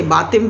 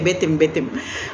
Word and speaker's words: Betim: I'm not pronouncing it right, Batim in Goa. Betim, I say Batim, but then when Goan say Betim.